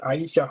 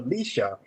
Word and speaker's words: Aisha: Heritage Park, the mayor didn't have the basic decency to ask Aisha how to properly pronounce her name and personally keep calling her Leisha.